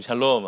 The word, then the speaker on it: 샬롬: 한번 보시고 더 정겹게 샬롬 샬롬 샬롬 한번 인사하시죠. 샬롬 샬롬 샬롬. 이 발음을 잘해야 됩니다 이거. 네, 괜히 이렇게 뒤에 니은이 이렇게 들어가고 이러면 좀 샬롬 이렇게 되는 건데요.